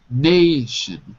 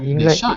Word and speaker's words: nation: nation of uh shopkeepers Nation Nation sorry not na but Nation okay very good is a